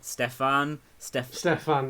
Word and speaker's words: Steffan: Is it just Steffan? Steffan, yeah. Steffan, yeah, sweet.